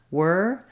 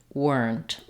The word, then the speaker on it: were: First of all, the word were, even though it has ERE, like we see in here or there or where, it's simply just the vowel.